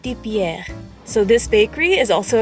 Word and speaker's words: Pierre: Pierre Bakery uh okay if you say it in French it's like Pierre so this Bakery is